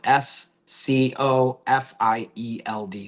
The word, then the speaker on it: Scofield: It's spelled S C O F I E L D.